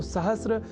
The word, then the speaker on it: सहस्र: पर हम जब अर्ध सकार के बाद र इस अक्षर का ध्यान रख लें तो सहस्र इस शब्द के प्रयोग में हम अपने आप को अच्छी स्थिति में पाएंगे, अर्थात उसका अशुद्ध उच्चारण नहीं करेंगे। तो यह शब्द सहस्र इस रूप में ही सर्वथा शुद्ध है।